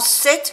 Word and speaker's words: cette: Cette no se pronuncia la última T ni la E.